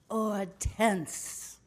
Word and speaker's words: Hortense: You could pronounce it like the French. Hortense.